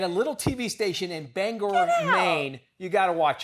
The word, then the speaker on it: Bangor: There's a certain sensitivity about how you pronounce the name of this city. Yeah, it's Bangor. All right. Bangor. And for the longest time, I thought it was Bangor.